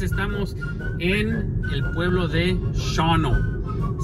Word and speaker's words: Shawano: en el pueblo de shono se escribe shawano pero se pronuncia shono y Miren qué vistas